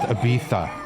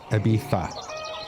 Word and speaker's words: Ibiza: oh but they're is there any Visa it's pronounced Ibiza actually Ibiza okay okay so I'm Gonna Fill Up that's